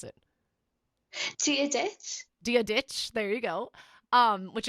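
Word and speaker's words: Dia dhuit: dear smith dear dear schmidt how would you pronounce it dia ditch there you go um which is do you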